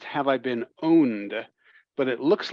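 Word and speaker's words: Have I Been Pwned: uh chat here um is called it it's pronounced have I been owned but it looks like have I been pawned um the p is pronounced like an O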